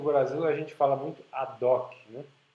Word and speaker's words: ad hoc: Que em português, no Brasil, a gente fala muito ad hoc, né? Usa o H mudo, mas isso é latim, e como se pronuncia o latim é meio controverso, né? Porque são pronúncias reconstruídas.